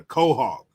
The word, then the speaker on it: quahog: So that's like how you say it, a quahog.